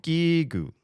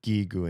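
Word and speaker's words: ギーグ: This this character is G and this character is G. So it's it's hard G's both gigu.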